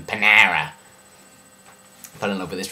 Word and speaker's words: Panera: love that and also a restaurant called panera or well if you're me panara if i think it's housewives we pronounce panera if you're american panera fell in love with